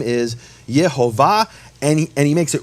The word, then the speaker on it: Yehovah: But he received this as a tradition that the true pronunciation of the name is Yhovah.